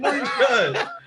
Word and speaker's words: Buttigieg: It's booty. Okay, it's booty judge.